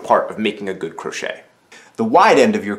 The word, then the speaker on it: crochet: for hundreds of years it's called a crochet it's French or if you don't like the French pronunciation you could call it a crotchet but it the crochet